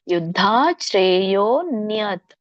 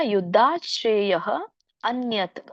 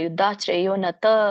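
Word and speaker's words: ಯುದ್ಧಾಚ್ಛ್ರೇಯೋಽನ್ಯತ್: ಮತ್ತೆ ನೀವು ದೀರ್ಘವಾಗಿ ಉಚ್ಚರಿಸಬೇಕು ಯುದ್ಧಶ್ರೇಯೋನ್ಯತ್ ಅಥವಾ ಯುದ್ಧಶ್ರೇಯಹ ಅನ್ಯತ್ ಅಂತ ಕೂಡ ಅನ್ನಬಹುದು ಯಾರಿಗೆ ಕೂಡಿ ಹೇಳಲಿಕ್ಕೆ ಬರುದಿಲ್ವೋ ಯುದ್ಧಾಶ್ರೇಯಹ ಅನ್ಯತ್ ಅಂತ ಹೇಳಬಹುದು ಇಲ್ಲ ಅಂದ್ರೆ ಯುದ್ಧಾಶ್ರೇಯೋನ್ಯತ್ ತ ನೀವು ತ ಅನ್ನಂಗಿಲ್ಲ ಯುದ್ಧಾಶ್ರೇಯೋನತ ಅನ್ನಂಗಿಲ್ಲ ತ ಕೆಲ್ಲಿ ಸ್ವರ ಇಲ್ಲ ಹಾಗಾಗಿ ವ್ಯಂಜನ ಕೊಡಬೇಕು ಹಾಗಾಗಿ ನೀವು ಅಲ್ಪವಾಗಿ ಉಚ್ಚರಿಸಬೇಕು ತ ಯುದ್ಧಾಶ್ರೇಯೋನ್ಯತ್ ಆಮೇಲೆ ಕ್ಷತ್ರಿಯಸ್ಯ ನವಿದ್ಯತೆ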